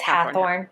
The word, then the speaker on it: Hathorne: It's Hathorne. Sorry. Yeah. They do that on purpose. It's so dumb. Okay. So they do that because they can't, I guess, for some reason, say Hawthorne, like Hawthorne, however that's spelled.